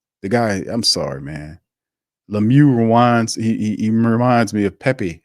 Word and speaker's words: Lemieux: Shane Lemieux rhymes with LePew. The guy, I'm sorry, man. Lemieux he reminds me of Pepe Le Pew.